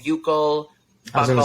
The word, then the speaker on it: buccal: It's pronounced buccal? Yeah. I mean, so in the UK, they call it buccal.